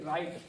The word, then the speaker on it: write: जैसे कि राइट, WRITE, ये क्या है, राइट तो है, W साइलेंट है, मैंने क्या कहा है, अगर R से पहले W हो तो W क्या रहता है, साइलेंट।